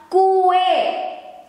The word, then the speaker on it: kue: And this, the Indonesian word, the correct way to write it is like this, and we pronounce it as kue, kue. As cookie.